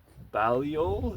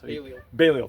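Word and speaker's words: Balliol: King Edward the first of Scotland's coin and King John Balio if that that's Baleo.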